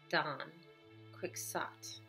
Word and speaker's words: Don Quixote: work of fiction called Don quick SOT technically that is a correct pronunciation of this word they're supposed to be in either however I wouldn't pronounce it that way I don't think there's